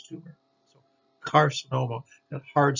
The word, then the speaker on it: carcinoma: that soft c sound the hard c sound the k or almost like the k sound like we talked about before the word begins with the c but it's followed by all those other vowels o and u or consonant is most commonly uh hard c or k sound carcinoma carcinoma so here's a c followed by an a carcinoma carcinoma just means cancer card